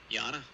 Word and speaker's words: Yana: And how do you pronounce the other name, Dave? Yana.